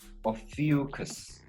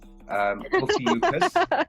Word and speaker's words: Ophiuchus: And the 13th one is actually known as, it's pronounced Ophiuchus. Those who are born between... I'm sure you're saying that wrong. Okay, I'm going to have to Google that. Ophiuchus.